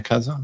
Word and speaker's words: Kassa: Kassa, I believe I'm pronouncing that correctly. Gentlemen, do I have that right? Kaza? Yeah, Kaza. Kaza.